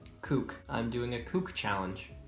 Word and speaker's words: CUK: challenge video called cuk or as I'm gonna pronounce it kook I'm doing a coop